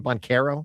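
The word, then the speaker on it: Banchero: Bonero.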